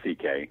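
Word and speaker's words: Székely: it's spelled differently it's then ck but it's pronounced ck okay and so he changed his name to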